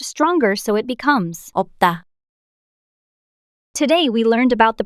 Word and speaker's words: 없다: Of the complex consonants, only 비읍, is pronounced.